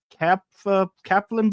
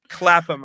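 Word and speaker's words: Clapham: Many of the most purple hours of my life have been passed at Cap Kaplam Junction. Clappam, I think it's pronounced. Clappam Clappam Junction.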